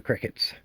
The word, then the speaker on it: Cricut: Let's cut out some gaskets using the Cricuts. CriCut. It's spelled C-R-I-C-U-T. Funny, huh?